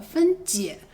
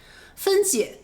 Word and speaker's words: 分解: 分界和分解这两个词音调不同，你要注意一下。